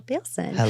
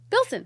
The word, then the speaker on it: Bilson: Olivia Allen and Rachel bson I think I mispronounced your name it's just Bilson it's likeon you know